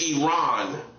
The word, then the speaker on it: Iran: It's Iran. That's how you pronounce it.